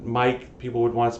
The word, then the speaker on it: mic: c um and yeah it's Mike it's Mike as a microphone uh I always pronounce it Mick because I'm contrary um and also that way I mean I guess I in my head it makes sense because it means you see how it's spelled if I said Mike